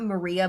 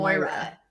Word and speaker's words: Moira: to say her name it's not Maria but it's like Moria I was saying it likea Mo like uh shitz Creek like Mo Moira yeah yeah yeah it